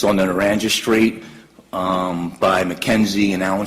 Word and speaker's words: Naranja: And we see Naranja, is that Narranja? That is correct. It's pronounced Naranja? Naranja, yes, sir.